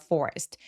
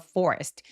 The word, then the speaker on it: forest: near a forest. lived near a forest. near는 엄청 잘 들리기보다는 아주 가볍게 강세를 주시면 되겠습니다. forest 아니고 R 발음은 입술을 쭉 내밀어서 forest. rest 해주시면 훨씬 더 좋은 소리가 나죠?